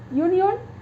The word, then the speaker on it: union: of them a union this word begins with vowel letter but not vowel sound that is pronounced you that is a union